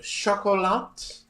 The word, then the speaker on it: Chocolat: It's pronounced chocolat. Hey, I didn't claim to know anything about French. I was telling you, if there's no vowel after the last consonant, you generally don't pronounce it.